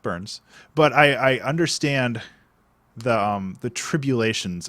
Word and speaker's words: Burnes: Listen, my last name is Burns with an N-E-S, and everybody says Burness, and no, it's just Burns.